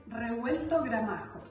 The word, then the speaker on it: Revuelto Gramajo: So the name of it may be a little bit hard to pronounce. It's Revuelto Gramajo.